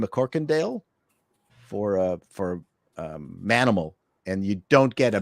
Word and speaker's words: Manimal: for uh for a Manimal and you don't get a better life animal better last name than mccorkindale you can't say it like mammal you gotta say it like men that's right and that